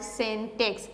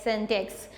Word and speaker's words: syntax: जो सिंटेक्स है, यानी सिंटेक्स के प्रोनाउंसिएशन तो ये शायद आपको ऐसे लग रहा हो, लेकिन इट is called सिंटेक्स, SYNTAX, सिंटेक्स, यानी जैसे हम फॉर्मूला कहेंगे.